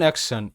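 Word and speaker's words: action: এবার শব্দ যেমন অ্যাকশন, AC এক, TION শান, অ্যাকশন, অ্যাকশন মানে কাজ বা ক্রিয়া।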